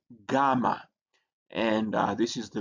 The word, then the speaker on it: gamma: can see there and it has a G sound in gone.